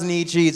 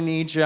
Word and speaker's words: Nietzsche: we all love him a lot of people think is pronounced Andy cheese actually Nietzsche I'm not saying that to be a dick and like wield that not over you like some sort of cultural capital sword of Damocles like a monster but it's actually how you pronounce his name so I think we